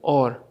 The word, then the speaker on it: hour: दोस्तों ये जो और है HOUR इसका प्रोनाउंसिएशन है और। ये H इसमें साइलेंट है।